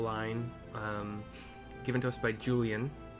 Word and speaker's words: Julyan: It's level 50, part of the Manderville line, given to us by Julyan, spelled Julya Nancy, if you were wondering, but I'm pronouncing it Julyan, who seems to be